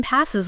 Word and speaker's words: pass: And for pronunciation, pass has a short A sound, like in the word cat, and breeze has that soft.